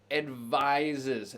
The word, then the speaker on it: advises: the world health organization advises this is a verb to advise that's the third person singular because it advises notice that pronunciation both of those s's are pronounced as z's or zeds depending on what flavor